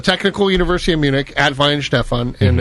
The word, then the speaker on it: Weihenstephan: No, Weihenstephan. That's where I went to school. That's it. Yeah. Weihenstephan. Weihenstephan. It's the Technical University of Munich at Weihenstephan, and it's the oldest brewery in the world.